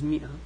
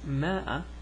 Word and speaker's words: مئة: this, pronounce it as ma'a or pronounce it as mi'a. There's a big history discussion about this, but anyways, forget about that. Just know that if you hear ma'a, it's the same as mi'a, okay?